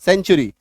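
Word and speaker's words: century: you Fortune च टी एन टी यू च सेंचुरी एस आई टी यू ए टी आई ओ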